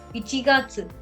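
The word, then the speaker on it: 一月: So ichi, this is 1、1、 ichi. And ichi means one, okay? One and plus gatsu, okay? So it's very simple. So if you pronounce this, 1月、 ichigatsu, 1月、 ichigatsu.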